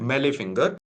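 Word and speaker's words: mallet finger: T is silent meal finger. Only flexion occurs at distal interfallenial joint.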